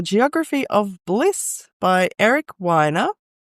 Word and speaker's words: Weiner: We are here today to chat about the geography of bliss by Eric Winer. It did say somewhere in the book, I've got a tag that it is pronounced whiner.